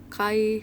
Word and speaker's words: chi: untuk rostab ini adalah Kai Square Iya tulisannya memang Ci tapi dibacanya Kai karena ini adalah huruf latin atau Bahasa Indonesianya adalah